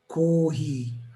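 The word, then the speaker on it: コーヒー: ends in ko or kohi? How do you differentiate the pronunciation, the intonation? Also, kohi, I would say it's a flat intonation. Kohi. Okay. Most of the foreign words have flat intonation.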